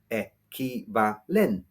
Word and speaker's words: equivalente: Or another word, equivalente, stressed on the second e, equivalente.